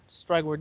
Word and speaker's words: Strygwyrd: At Strygward, if you're watching the stream, it's on there. If not, it's at STRYGWYRD, and the D is silent.